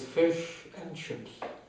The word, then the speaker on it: fish and chips: However, a British holiday by the sea is complete only with fish and chips. Fish and chips, as the British say, wobei das N natürlich für and steht.